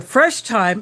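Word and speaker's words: Fresh Thyme: One of my sisters has gone to the Fresh Time, and time is spelled like the herb Thyme, kind of a play on words.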